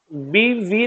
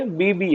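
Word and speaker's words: Bibee: बीवी नहीं है, बीबी है, मतलब बीवी नहीं है, सबकी बीवी नहीं है ये।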